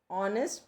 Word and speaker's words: honest: beginning with h but the sound of h is silent we have we cannot hear the sound of h if we hear the